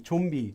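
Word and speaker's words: 좀비: Chumbi, because zombie in Korean is chumbi. But because this letter is a nasal consonant, it can also get pronounced like a miem at times. Often this consonant can get pronounced as miem sometimes when words are said quickly. So chonbi, chombi, chombi. Chonbi sounds like chombi.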